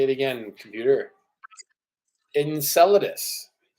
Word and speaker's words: Enceladus: knew I should have looked up how to pronounce this and enus and salus say it again computer Enceladus Enceladus uh Enceladus is a moon that orbits Saturn